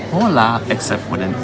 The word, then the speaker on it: hola: and in Spanish it's hola except for an H but which you don't even really pronounce the h that much like you don't hear it it's really soft but here specifically it's